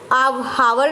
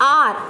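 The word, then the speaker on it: hour: जैसे एन आर, अभी एन आर के साथ क्यों यूज़ किया गया, क्योंकि इसकी प्रोनाउंसिएशन में आर, इसको हावर नहीं बोलते, इसको बोलते हैं आर, एन आर, आर अ से शुरू हो रहा है ना तो इसलिए इसके अंदर एन लगा है।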